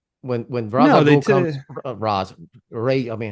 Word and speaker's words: Ra's: I mean, they, when Ra's al Ghul comes, Ray. I mean, how to say the right? In here, it's Raish. Yeah. In this movie, they say Raish.